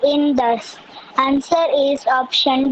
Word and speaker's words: Indus: Indus. Indus. Indus. Hmm. I know there is a U, but we pronounce it as Indus.